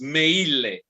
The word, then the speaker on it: Meille: Even Italy, they pronounce it with like an Italian would pronounce it. So it's Meille. Okay. So by pronouncing the all Every letter, right exactly as it is written, and that's it.